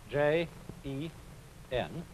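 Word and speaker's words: 仁: Although, when we romanize this word in English, we spell it J-E-N, it's pronounced Jen. Sort of like rolling an R, or rather saying R, but not rolling it.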